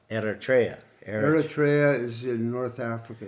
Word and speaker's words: Eritrea: itria erria ER how do you say it Eritrea Eritrea erria is in North Africa it's on the